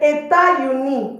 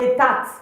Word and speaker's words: États-Unis: Don't forget, États-Unis is not État.